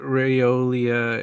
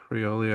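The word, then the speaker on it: Raiola: Does Dylan Raolia, is that how you say it? Riolia. Uh I think it's Riola. Riola. Dylan Riola.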